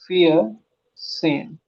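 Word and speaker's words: vierzehn: हो जाएगा ड्राई सेन फियर सेन हल्का सा ता का साउंड भी लेना फियत से ये हो जाएगा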